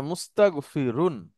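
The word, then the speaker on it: مستغفرون: পেশ মু নিয়ে আসবো উচ্চারণ কি হবে বলেন মুস্তাকফিরু মুস্তান হবে না মুস্তাগফিরু আর শেষে এটাকে তানভীন করে দেবো বলেন না না মুস্তাগফিরুন আচ্ছা সরিফিরুন হ্যাঁ এখানে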